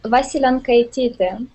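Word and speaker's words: Vasilenkaitė: It is Vasilenkaitite. It is usual, ordinary Lithuanian surname.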